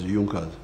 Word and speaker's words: Junkers: It is written in Junkers, but they pronounce it as Junkers.